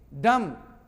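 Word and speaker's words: dumb: Okay, डम, बॉ नहीं बोलना, डम, ही इज डम, गंगा है।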